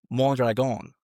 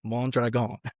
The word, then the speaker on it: Mondragón: Montreon. Not Montre. Montreon.